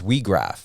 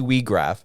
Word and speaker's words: Weag: can blow the whistle your last name is WRA yes I pronunciated that right correct yep that was that